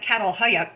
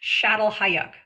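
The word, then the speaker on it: Çatalhöyük: It looks like Cattle Hayuk, but it's pronounced Shattel Hayuk.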